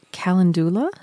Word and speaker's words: calendula: And then the other one is calendula?